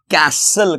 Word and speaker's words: castle: कैसल, CASTLE, ध्यान से देखिए दोस्तों, टी साइलेंट रहता है, कैसल कहते हैं इसे।